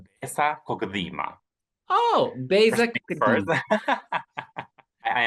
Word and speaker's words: Besa Kokëdhima: It's Besa Kokëdhima.